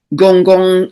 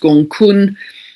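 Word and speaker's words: Gonggong: On this same theme of flooding, we have um Gong Gong, a dwarf planet here. I think it's pronounced Gongkun at almost 6° of Pisces conjunct the North Node.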